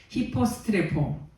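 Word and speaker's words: ὑποστρέφω: 여기서 돌아가고 요 히포스트레포 돌아갔다 요 말은 히포스트레포 요런 발음인데 무슨 뜻이냐면 반대로 돌리다, 틀다, 되돌아가다, 되돌리다 이런 뜻이 있어요.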